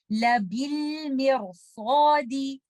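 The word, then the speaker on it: لَبِالْمِرْصَادِ: तो आप इस लफ्ज में लेटर रॉ को कसरा की वजह से लाइट नहीं पढ़ेंगे बल्कि सौद की वजह से हैवी पढ़ेंगे। इसकी प्रोनाउंसिएशन कुछ इस तरह से होगी लबिल मिरसादी।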